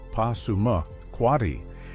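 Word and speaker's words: Passamaquoddy: Pasamquati, pronounced Pasuma, Quatti, means those who pursue the Pollock in reference to their fishing.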